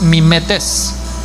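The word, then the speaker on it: μιμητής: Pero si te vas al griego, en el cual está escrito, el verbo es mimetes, con acento en las dos es finales, que es imitar.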